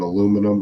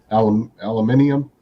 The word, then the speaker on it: aluminium: And he was pronouncing aluminum. How do you guys say it? Aluminium. Aluminium. Yeah. We pronounce it the right way.